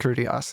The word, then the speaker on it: Critias: Is it Timaeus and Critias? I don't know. Timaeus and Critias, Yeah, great.